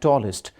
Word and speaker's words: tallest: Est is usually pronounced as est in Pakistan. For example, tallest, biggest, hardest. That is wrong. You must avoid it. It should be ist.